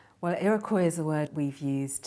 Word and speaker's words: Iroquois: the word is iroy and it's spelled i r o q uo i s well iry is a word we've